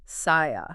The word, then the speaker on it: SIA: And just so everyone knows, it's pronounced SIA.